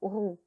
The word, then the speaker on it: roux: Le yaourt, le mazou, la poule rousse, un coucou roux. Le X ne se prononce pas.